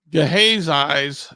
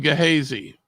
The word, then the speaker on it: Gehazi: And if left to myself, I'm going to call him Gehazi. But that, according to what my research is not the proper way to pronounce it. It's Gehazi.